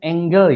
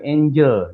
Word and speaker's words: angle: Baik, perhatikan ini tulisan bacanya angle ya. Angle bukan angel ya. Angle. Kalau angel itu tulisannya angel itu e malaikat.